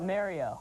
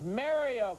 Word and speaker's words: Mario: Is his first name pronounced Mario? Okay, Tran, Harold? Is it Mario or Mario? It's Mario. It's Mario, correct.